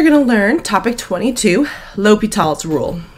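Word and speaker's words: L'Hôpital: class today you're going to learn topic 22 l'hopital's rule it's not pronounced la hospital and this is your first bc concept what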